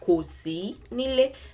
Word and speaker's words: Kò sí nílé: Let's break this down into syllables so that we can make sense of it. Do, ko. This is one word, one syllable, one word. Si. You notice that it's not quite mi. Si, it's not do. Mi, it's not ko. Si, it's ko si nílé.